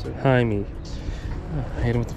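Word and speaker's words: Jaime: that's it what's your name how do you spell it uh Jai me j a i m e hi me I hit him with the photo smack got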